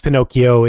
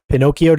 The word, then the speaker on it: Pinokio: just get Pinocchio from Pinocchio doomu remember it's spelled weird p i n o k i o all right I just